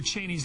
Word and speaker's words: Cheney: Dick Cheney, and that's how you pronounce his name, was out last night